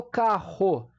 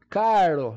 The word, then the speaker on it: carro: ter o fonema a agora quando eu falo carro eu falo carro caro não eu falo carro então esses dois rs aí eu pronuncio no único R apenas e ó que que